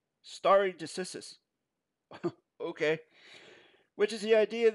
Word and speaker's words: stare decisis: Common law originated in England in the 12th century and is based on the concept of state decisis, pronounced state decisis, stare decisis.